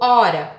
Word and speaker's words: ora: Ora tem um R só e correndo tem dois R's. Eu pronunciei da mesma forma? Correndo e ora. Não, foi diferente, né?